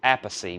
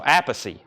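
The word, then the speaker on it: Appice: Carmine tells Jim Prada is the correct Italian pronunciation is apathy which is how most of his family members including his brother Vinnie pronounces it okay so as Britney his brother's Vinnie wow all right so apacy he said it himself thank you Craig for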